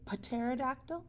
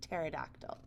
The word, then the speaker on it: pterodactyl: talked about this one P as in pterodactyl do you say Patera doctor or just pterodactyl just pterodactyl so it's a silent letter and then over here